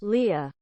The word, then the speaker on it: Leah: without a doubt that the way you pronounce pronounce this name is Leah um one second Leah